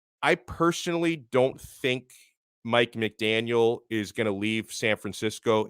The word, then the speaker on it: McDaniel: i'll take harbaugh and mcdaniel's uh and by the way it's mcdaniel not mcdaniels i'm not i'm not calling that estefan i'm just saying that to everybody i even say it wrong sometimes right i mean the